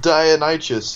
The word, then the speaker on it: Dionysus: i don't think so it's spelled it's pronounced dionysus you literate bastard you know